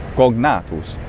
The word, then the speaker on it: cognatus: It makes much more sense if the normal Republican, late Republican classical pronunciation is in fact gna, cognatus. Otherwise, cognatus seems a little bit odd. It should be written C-O-N-G-N for something like that. And since it's not, that tells us that there's some kind of different pronunciation.